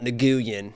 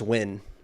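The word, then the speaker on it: Nguyen: do you say yeah it's not nean it's just win I don't say nguan I say just win yeah it's just win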